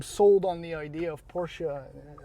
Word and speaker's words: Porsche: on the idea of Porsche Porsche or so I discovered recently is how it should be pronounced but it's too late